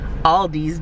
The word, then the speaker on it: Aldi: y'all might say, Ariel, there's no S in Aldi's. It's actually Aldi. But you know what? Just like the K in not is silent, the S in Aldi's is invisible. It's Aldi's. I don't care what none of y'all say.